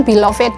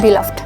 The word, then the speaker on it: beloved: Tidak semuanya kita mengeneralisasikan seperti itu karena kadang-kadang kata yang kayak misalkan beloved ya. Nah, ini kan harusnya beloved gitu ya. Tapi ini cara bacanya bukan beloved, tapi beloved. Oh, saya baru tahu.